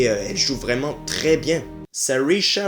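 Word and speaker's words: Saoirse: joue vraiment très bien sisha Ronan paraît que c'est comme ça qu'on prononce et bien en tout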